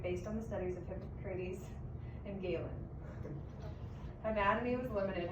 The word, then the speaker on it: Hippocrates: Hippocrates. Hippocrates.